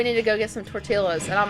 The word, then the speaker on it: tortilla: got so much moves pronouncing the L in tortilla um this this one this one over here did that for the longest time oh we need to go get some tortillas and I'm like you